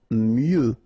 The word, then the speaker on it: mieux: Mieux. Final X not pronounced.